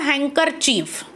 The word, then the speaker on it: handkerchief: As a handkerchief. Yes, but in case of spelling, we have to use here D. Yes, handkerchief, actually handkerchief. But we are not using this D, D sound in pronunciation.